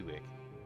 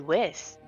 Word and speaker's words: Whisk: Tansy Whisk. Did I say it wrong? It common misconception. Oh, Whisk is her family name, so and you don't like your family? it's similar to Wick, but whisk like bakers.